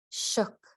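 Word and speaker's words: Suk: Shuk, a human being, a Fognak dialect. The S is pronounced sh. It sounds like shook, but with a shorter O.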